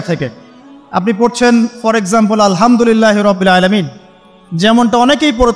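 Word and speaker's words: الحمد لله: আলহামদুলিল্লাহ ভালো আছি তো আলহামদুলিল্লাহ না বলে সে বলেছে আলহামদুলিল্লাহ উচ্চারণ পরিবর্তন হয়ে গেছে এই কারণে অর্থ পরিবর্তন হয়ে দাঁড়াবে যে সমস্ত নিন্দা আল্লাহর জন্যে যিনি জগৎসমূহের রব আমার কথা কি বুঝতে পারছেন শুধু হা এর মাখরাজ ভুল হওয়ার কারণে এই সমস্যা হলো তাই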